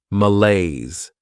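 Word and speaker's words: malaise: Behavior next is mala this word has two syllables and the stress is on that second syllable malays this is not a great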